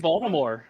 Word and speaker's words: Baltimore: that i mean it's like baltimore you don't pronounce the t uh it's like toronto